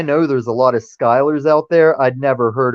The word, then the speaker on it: Schuyler: I know there's a lot of Skylers out there. I'd never heard of the SCH Skyler. Yeah, SCHUYLER.